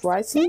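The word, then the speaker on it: Wriothesley: ricey hey don't be the way you pronounce his name is ricey listen to him I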